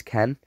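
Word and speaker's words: Kean: that is how you say his name always Ken and um yeah um I discard because it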